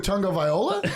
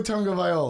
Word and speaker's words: Tagovailoa: Tua Tagovailoa? Are you fucking kidding me? I can barely say it. Take a stab at it. Tua Tagovailoa. No, just the last name. You said it twice. Tagovailoa.